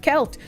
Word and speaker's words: Celt: I say things wrong however uh selt is pronounced kelt yeah I used to pronounce it kelt and